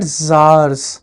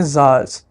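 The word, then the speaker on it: tsars: was called the land of SARS it is pronounced at Zars okay Zars which means Kings Land of the Rising Sun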